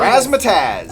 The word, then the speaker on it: Razzmatazz: Razzmatazz.